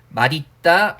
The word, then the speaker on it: 맛있다: 그래서 맛있다, 멋있다 같은 경우는요, 그죠? 원칙적인 발음이 있기는 하지만 그냥 연음해서 그냥 예외로 처리하시면 돼요. 그래서 맛있다 같은 경우에 맛있다 이렇게 발음할 수도 있고요. 멋있다 같은 경우에 멋있다 이렇게 발음할 수도 있다는 거죠.